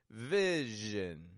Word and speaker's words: vision: Vision. Notice the stress is in the first syllable there, vi, where the zhin is quick and quiet, unstressed. Vision.